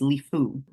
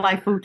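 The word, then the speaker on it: Lifou: called it Liu but I was calling it lifeu too so yeah I think in the introduction I called it lifeu but I won't I won't I won't edit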